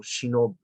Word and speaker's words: shinobi: call them ninja, or shinobi. The traditional pronunciation was shinobi.